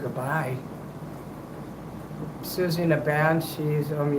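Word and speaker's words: Siouxsie: Susie in a band. cheese. Um yeah, it's pronounced a certain way though. Always pronounced like, you know, like a sue, native American Indian.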